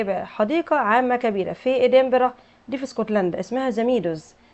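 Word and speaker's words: Edinburgh: ادنبرا كاسل. التي سايلنت وينفع تتنطق ادنبرج والجي اي والاتش سايلنت. تمام، ادنبرج او ادنبرا.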